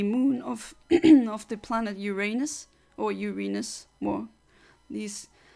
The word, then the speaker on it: Uranus: of of the planet Uranus or Uranus more this it's more uh the pronunciation is more correct if you say urenus I don't think I